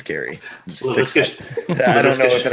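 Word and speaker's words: Gerry: Or I always thought it was Nate Jerry. I don't. It's Gary.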